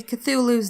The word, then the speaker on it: Cthulhu: Look, we're going with the common pronunciation because technically Cthulhu's name is in an alien language that man can't speak.